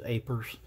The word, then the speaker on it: APRS: presentation is aprs and most ham operators will just pronounce it as apers and you'll hear it